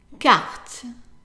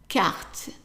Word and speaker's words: carte: Francophone countries in Africa, the R is pronounced very similar to English, so it's pronounced as R, R. Okay? And if you speak Arabic or Spanish, it's very similar to the Spanish and Arabic R. Okay? So let's read this word here, knowing what we know about the tips of pronunciation. Carte. Carte. Okay, so let's read the two words here.